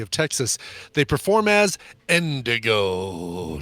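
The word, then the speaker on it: NDG: awesome they perform as Indigo but it's spelled n DG four letters n DG but pronounced Indigo get it I get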